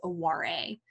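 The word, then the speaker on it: oware: they're playing a version of the game called aware a that's spelled o-w-a-r-e i'm typing that into the chat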